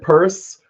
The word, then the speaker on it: Pierce: yeah and it's the the family pronounces it purse and it's it's a